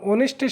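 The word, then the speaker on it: honest: যেমন আমরা অ্যান অনেস্ট ম্যান, যখন অনেস্টের সাথে ম্যান আছে তখন একটা প্রেইজ হয়ে গেছে, এর জন্য এর পূর্বে আমাদেরকে এন বসাতে হবে। এখানে এইচের উচ্চারণ হয় না, এটা হবে অনেস্ট, এরপরে বাউল আছে, বাউলটাই উচ্চারিত হচ্ছে।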